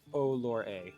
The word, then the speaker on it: Orlais: Orlor, yeah, Olore is how you pronounce that. Factions. Olore? Yeah. Yep. Three syllables.